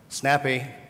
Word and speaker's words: SNPE: It's pronounced Snappy.